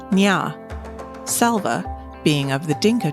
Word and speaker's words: Nya: Nia is a girl from the Newair tribe. Among the new air, her name is pronounced Nya.